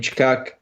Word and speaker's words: Tkachuk: Tkachuk.